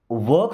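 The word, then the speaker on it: walk: वॉक slowly. देखिए इस word में एल साइलेंट है।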